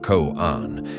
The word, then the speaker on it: koan: A koan, pronounced koan, is often presented as a dialogue between a Zen master and student, or as a short, puzzling anecdote.